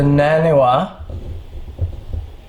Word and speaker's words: Naniwa: This is the Naniwa. I believe you'd pronounce it.